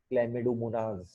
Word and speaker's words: Chlamydomonas: Pronunciation ध्यान से देखिए, Chlamydomonas.